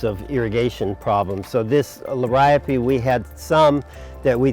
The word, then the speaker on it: Liriope: This is Liriope big blue. And so it's a bigger form of Liriope, or some people pronounce it Liriope.